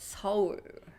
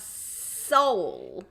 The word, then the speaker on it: Seoul: Let's look at Seoul, the capital of South Korea. Okay, Seoul. This is how you pronounce and write in Korean word. Not Seoul, not Seoul. It's Seoul, Seoul.